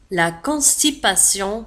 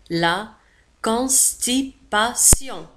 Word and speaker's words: constipation: La constipation والإمساك. La constipation. انتبهوا كذلك في آخر الكلمة constipation sion هي T I O N تنطق sion. La constipation. لا نقول la constipation. نقول la constipation.